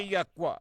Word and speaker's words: Yahweh: reason why we use the four letters, which we pronounce Yahweh.